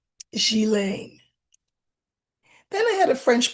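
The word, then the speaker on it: Ghislaine: And then the the last part is pronounced len like lend but without the d. So gilen. Gilen.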